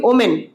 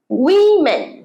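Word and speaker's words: women: কখনো পরেরটা খুব কমন ওয়ার্ড মহিলা আমরা বলি ওমেন ওমেন ওমেন সবাই বলি 90স আমি দেখেছি ভালো ইংরেজি জানে এটাকে প্রনাউন্স করে ওমেন সঠিক প্রনাউন্সিয়েশন জানলে তোমরা ঘাবড়ে যাবে এটা হচ্ছে উইমেন উইমেন বল আমার সাথে উমেন আরেকবার উমে গ্রেট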